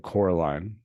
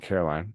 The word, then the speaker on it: Coraline: That's how you say it. Coraline, not Caroline. Coraline.